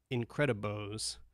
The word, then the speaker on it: Incredibo: These are called Incredibos, which is spelled just how it sounds, Incredibo.